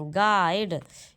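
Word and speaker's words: guide: इन the word गाइड अब देखो क्या कहा मैंने गाइड यू बोला कहीं भी यू बोला गाइड तो इसमें क्या साइलेंट है यू [गला साफ़ करने की आवाज़] ऑप्शन नंबर ए।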